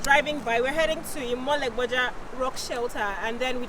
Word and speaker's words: Imoleboja: Did I pronounce that correctly? Yes. Imoleboja rock shelter.